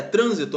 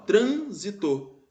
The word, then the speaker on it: trânsito: beleza na letra e trânsito ó transito trânsito é uma proparoxítona transito a anti penúltima sílaba é mais forte vê como é que